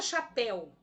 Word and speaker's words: chapéu: A sílaba pel é a mais forte, oxítona.